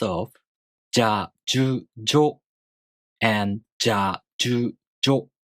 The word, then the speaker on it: ぢゃ: First off, じゃ, じゅ, じょ and ぢゃ, ぢゅ, ぢょ: These are pronounced in exactly the same way, but we use じゃ, じゅ, じょ almost all the time.